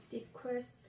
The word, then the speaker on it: decrease: 발음은 디크리스인데 우리가 디크레스로 연상해서 외우는 게 좋으냐면 뭐냐면 철자를 쓸 때는 디크레스라고 외우면 좀 더 좋아요. 진짜 발음은 디크리스예요.